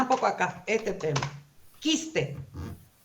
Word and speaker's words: quiste: Quiste. ¿Suena ahí la U? No suena, pero para mí es un diptongo, así me aprendí.